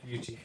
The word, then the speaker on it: Yuchi: Yuchi, that's proper pronunciation? Yeah, Yuchi.